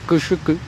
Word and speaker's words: cuchuco: Una pista, por ejemplo, la palabra cuchuco, que en su pronunciación se dice cuchucu, quiere decir alimento, como